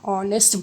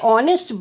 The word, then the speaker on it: honest: For example, an honest boy. When we say honest boy, the H is silent. See children, I repeat it again for you. Honest, H is silent.